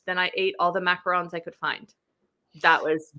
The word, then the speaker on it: macaron: And then I ate all the macarons I could find.